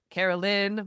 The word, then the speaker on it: Caroline: Cuz like it's Carolyn, but it's spelled Caroline.